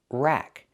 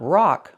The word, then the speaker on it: rack: Rack. Use the short a sound like black cat. Not rock like rock and roll, but rack.